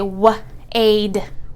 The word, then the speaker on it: wade: So it's going to say wade, wade. Again, we do not sound out that E. The one job that this E has is to make the A say its name.